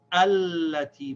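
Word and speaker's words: الَّتِي: See, in the first one here, the alif is the first letter, so we say allati.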